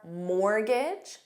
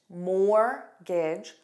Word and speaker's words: mortgage: And other words are mortgage, more gage, mortgage, soften.